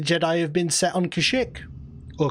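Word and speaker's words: Kashyyyk: have been set on kashik or kazuk you get to take the pronunciation from the holiday special spelled kazik pronounced kazuk everybody get every single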